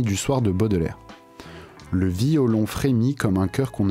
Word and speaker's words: violon: On est donc obligé de décomposer violon en 3 syllabes au lieu de 2.